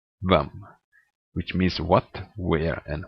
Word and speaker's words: hvem: Finally, silent H in words starting with HV. This you will meet a lot, because the Norwegian question words is starting with HV. The Norwegian question words, that's equivalent of the English WH. So these words would then be pronounced hva, hvor, hvem, which means what, where, and who.